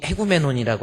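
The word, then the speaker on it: ἡγούμενον: 에라는 발음이 앞에 나와 있는 에 발음 앞에 이 기식과 강기식이 있는데 액센트가 거꾸로 확 뒤집어진 것 같은 거, H 발음을 하라는 뜻이에요. 그래서 에구메논이 아니라 헤구메논이라고 하는 거.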